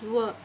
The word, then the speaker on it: were: It's not where, W-H-E-R-E pronunciation is different, and this is were.